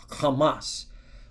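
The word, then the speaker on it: חמס: So it's pronounced kamas.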